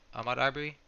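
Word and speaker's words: Ahmaud Arbery: That's how you say it, Ahmad Arbery.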